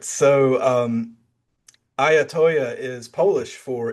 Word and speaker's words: I Ya Toyah: also your name because I don't want to mispronounce it during the interview. Oh, absolutely. So, I am Ayatoya. I got that one right. Ayatoya is the band the brand, right?